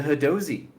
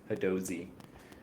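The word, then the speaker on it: Hadozee: The Hadozi. This is how they said it when I listened to their Instagram thing. So I believe I'm saying it right. Hadozi.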